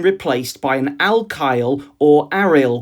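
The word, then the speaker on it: aryl: by an alkyle or ariel group sometimes pronounced aille.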